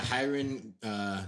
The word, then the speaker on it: Rayron: I'm gonna butcher his name because it's fucking Portuguese, but I think it's Hiron, but it's spelled Rayron or something like that. They're all with an H sound, even though it's R. Yeah, Hiron Gracie.